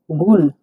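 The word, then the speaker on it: гүл: জি এর মত উচ্চারণ হবে মানে গ মত উচ্চারণ হবে গ উদাহণ দেখছি দেখুন গুল গুল মানে ফুল গুল ফুল গুল মানে ভেঙ্গে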